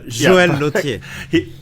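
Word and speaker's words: Joël Lautier: Joel Lautier, if I pronounce it correctly. No, you don't. Perfect. No. Joel Lautier.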